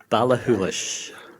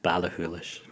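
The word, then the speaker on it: Ballachulish: complaints how did you how did you pronounce that balakoolish very important uh balihoolish i whether when i first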